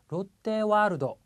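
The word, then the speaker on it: ロッテワールド: 자, 먼저 롯데와르도. 자, 롯데월드란 뜻인데요. 와가 좀 기니까 눈이 강조합니다. 긴 발음. 자, 다시 한번 해볼게요. 롯데와르도. 와가 좀 길었습니다.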